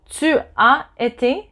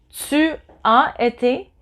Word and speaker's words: tu as: In French, there's no je ai, j'ai été, j'ai été, tu as été. So AS, you don't pronounce the S, but you know that